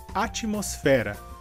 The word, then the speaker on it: atmosfera: Em português seria atmosfera. A diferença então seria que em espanhol a sílaba mais forte seria mos e em português a sílaba mais forte seria fé.